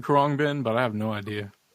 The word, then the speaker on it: Khruangbin: Krangbin. Oh man, Am I pronouncing that correctly? Do you know? I've been saying Khruangbin, but I have no idea.